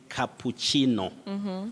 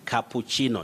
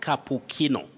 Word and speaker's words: cappuccino: is that correct yes you say cappuccino cappuccino not cappuccino and that word is